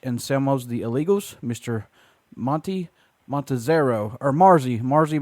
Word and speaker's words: Marzi: But it's pronounced Marzi Montazeri.